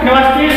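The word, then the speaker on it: university: तो जो हमारा वर्ड है यूनिवर्सिटी, सबसे पहले इसका हम प्रोनाउंसिएशन करते हैं। तो यूनिवर्सिटी का यदि हम प्रोनाउंसिएशन करते हैं तो यह भी हमारा कॉन्सोनेंट साउंड से शुरू हो रहा है, इसलिए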